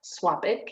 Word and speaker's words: SWOPIC: So the Southwest Oregon Pollinator Collaborative, or SWOPIC is how you pronounce that acronym, is another collection of partners that are government, agencies, nonprofits, and pollinator advocacy groups.